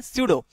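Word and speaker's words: pseudo: नहीं, स्यूडो होता है, पीस में साइलेंट होता है, स्यूडो।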